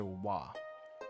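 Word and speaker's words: は: for w the character W but just know that ha is also pronounced W oh this is ha just just know that ha is also pronounced W uh when used as a particle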